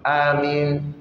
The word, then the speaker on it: Amin: qu' exauce et attention il y en a qui prononc mal Amin il tire trop Amin am non ah comme Adam Adam Amin am on ti de seulement Amin c'est tout et amine c'est sa